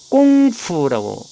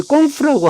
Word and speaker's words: 工夫: 이걸 중국어식으로 발음을 하면 꽁푸라고 발음합니다. 우리는 공부인데 중국 발음은 꽁푸입니다. 근데 이 꽁푸라고 하는 발음을 현재는 GONGFU